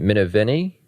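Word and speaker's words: Minervini: kind of mentioned, Mark uh how do I pronounce his last name? Minenni.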